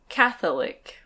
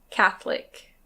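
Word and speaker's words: Catholic: This one can be pronounced "Cath-o-lic". Cath-o-lic. But we usually say "Cath-lic". Cath-lic.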